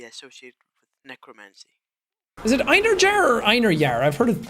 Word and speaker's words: Einherjar: I'm not sure how closely the Old Norse and the Icelandic pronunciation of this word is, but at least in Icelandic it's Einherjar.